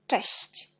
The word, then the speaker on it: cześć: Puis, on a le mot cześć. CZ, on prononce ch. Et S avec l'accent, on prononce si. C avec l'accent, on prononce ci. Czyli cześć.